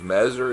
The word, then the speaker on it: Messier: Messer is spelled M-E-S-S-I-E-R.